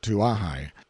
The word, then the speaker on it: Kauai: In due course of time our journey came to an end at Kauai, usually pronounced Tuahai, and before we find